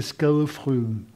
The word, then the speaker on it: skadefryd: voir là, qui s'appelle skadefryd. Oui, parce que le Y en danois, ça se prononce U, et le D, il est prononcé de façon assez légère. Bleu, voilà. Donc c'est skadefryd.